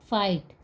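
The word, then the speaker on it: fight: तो सस साइलेंट है फाइट फाइट में टी लास्ट में है किंतु जी एच साइलेंट ही रहेगा अभी ऊपर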